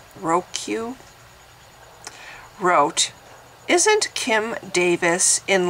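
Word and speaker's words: Rheque: I mean, somebody pointed out, in fact, I'm looking at the comment, Johnny Ruque, well, it's spelled R-H-E-Q-U-E, Roque, wrote, "Isn't Kim Davis in like every other People of Walmart video?"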